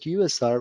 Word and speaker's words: usr: system whether it is user config Network config software config or any other configuration in the system USR also pronounced as user but better to pronounce it USR which stands for Unix